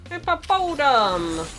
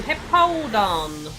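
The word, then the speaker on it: Hippowdon: Hippopodon! That's not how you say its name. Hippodon! There we go, Hippodon.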